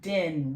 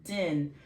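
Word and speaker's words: דין: So din, this is going to be din, one syllable, din, because of this bitter sound, din.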